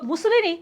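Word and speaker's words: Mussolini: তাহলে যেহেতু আমরা বলতেছি ফ্যাসিজমের প্রবর্তক মুসোলিনি, তার মানে এই ফ্যাসিবাদ কথাটা আসতেছে কি? ইটালীয় ভাষা থেকে, ফ্যাসিওস উচ্চারণটা আমরা পড়ছিলাম, ঠিক আছে?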